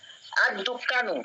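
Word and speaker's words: الدكان: আদ-দুক্কানু লামের উচ্চারণ হচ্ছে না, কারণ দাল এটা হচ্ছে হরফুল শামসিয়া।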